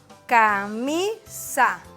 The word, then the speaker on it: camisa: Por ejemplo, camisa. ¿Dónde está mi sílaba tónica?